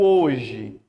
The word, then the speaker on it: hoje: Você percebe que esse H no início, geralmente ele é mudo. Né? Ele é mudo. Então ele não vai contar. Então eu vou contar aí como 3.